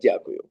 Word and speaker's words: дякую: Dankeschön in Ukrainian, it's дякую. Say it again. Дякую. Diaku, Дякую. diaku, It's more like ja, дякую. diaku.